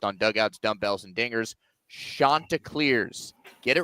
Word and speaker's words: Chanticleers: The Coastal Carolina, listen to me say it, folks, Chanticleers. It is the Chanticleers, not Chanticleers, not Chanticleers.